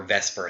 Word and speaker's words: VSEPR: shapes they do is called VSEPR or Vesper Theory yeah I know we kind of pronounce it wrong that stands for a